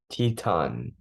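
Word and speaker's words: Titán: Titan, if you're going to pronounce it in the Spanish way. Teton.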